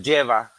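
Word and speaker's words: Jeva: Se se pronuncian como los lleva genetistas.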